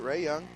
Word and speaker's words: Ray Young: Ray Young.